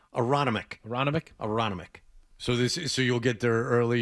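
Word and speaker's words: Aronimink: How do you pronounce it? Aroniminic? Aronimic.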